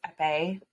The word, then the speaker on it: épée: And I also recognize the proper way to say that is épée.